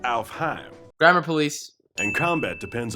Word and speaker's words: Alfheim: Alfame online. Uh, actually it's pronounced Alfheim.